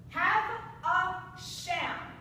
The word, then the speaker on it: Havisham: Have a sham, just so you know. Jill writes, have a sham is how it should be pronounced.